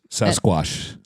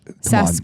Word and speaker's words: Sasquatch: to the sasquash museum sasquash SAS Sasquatch come on pronunciate all the all the letters squatching okay Squatch but